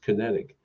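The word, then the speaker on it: QinetiQ: an oath of Allegiance in his formation of kinetic uh nonetheless spell q-i-n-e-t-i-q but it's pronounced kinetic and in 1908 see it was in 2002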